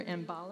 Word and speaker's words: Mbale: can just keep in mind that they're near Mbale, and that's how this is pronounced.